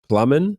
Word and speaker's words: Plamen: very good question uh you pronounce the way correctly but let's say that that's not the way to pronounce my name in bulgarian but ever since i stepped outside of bulgaria about 19 years ago i realized that i'll be cold plument forever in bulgaria though the real